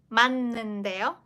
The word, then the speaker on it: 맞는데요: As for this 치읓, this ending sound, it's a representative ending sound as ticket. The sound. So you need to pronounce it mat in the first place. Mat. Just finish your pronunciation there, like kind of slightly biting your like the front tip of your tongue. It's like mat.